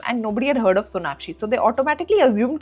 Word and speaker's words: Sonakshi: Sonali a lot. I get that a lot. In fact, at airports and all, oh Sonali ji, Sonali ji. I'm like no, Sonakshi ji.